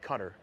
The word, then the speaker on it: Qatar: in philly but guitar it's like a cutter depending on how you pronounce it yeah i've always been told cutter yeah um but you're